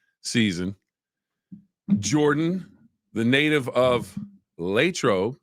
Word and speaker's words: Latrobe: Jordan the native of latro as the natives say it like she does or Latrobe if uh you want to say it that way uh Steelers first preseason